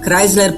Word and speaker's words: Chrysler: Chrysler, powiedział kaplica, wymawiając słowo Chrysler po polsku przez H.